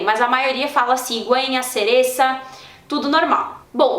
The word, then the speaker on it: cereza: cigüeña e cereza, beleza, mas é na Espanha que o C seguido de I e de E tem esse som parecido, esse som como o do Z, que é pronunciado na Espanha, que é aquele, então, né, tipo TH do inglês.